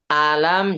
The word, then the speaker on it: ألم: Nah, baca A-nya itu nggak nyampe satu harokat, Bapak. Hati-hati. Pokoknya huruf yang pendek itu dibaca satu harokat. Jangan kurang dari itu. Jangan kurang dari satu harokat.